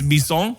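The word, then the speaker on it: maison: I saw the word mansion in French it's me song but it's not spelled me song and/or like French people made fun of me I'm like lamb and she own and they're like no it's me song I'm like no they spell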